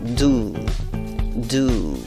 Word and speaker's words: do: Esos 2 puntitos indican de que esa U es larga. Por ello tienes que pronunciar esta palabra como do, una U larga. Y tienes que hacer una trompita con los labios y decir do.